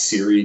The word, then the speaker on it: CIRI: Sanguinelli and Richards CIRI, it's usually pronounced Siri data, was they took that